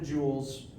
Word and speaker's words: joules: variables work measured in joules spelled like this it's it's a French name not gemstones and the unit is